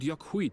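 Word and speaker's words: Yok Huy: He's speaking the old Yokhui tongue. The words are difficult to catch. Yakui? Ooh, I was close. I thought it was yoke, not yuck.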